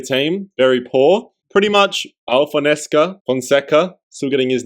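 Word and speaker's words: João Fonseca: Moving on, we got Joao Fonseca. That's how you pronounce it in Brazilian Portuguese.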